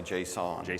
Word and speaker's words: JSON: so now people use how do you pronounce it Jason or Json I say Json personally but that's this